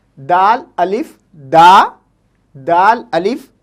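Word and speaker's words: دادا: तरीके से हम देख सकते हैं, दाल अलिफ दा, दाल अलिफ दा, दादा, ओके।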